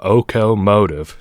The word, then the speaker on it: okomotive: It's called a okomotive. Now, the way that's spelled is like locomotive, but without the L, and the C in locomotive is replaced with a K.